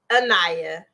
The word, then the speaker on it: Anayah: go to this break annaya I said it right yes before we go to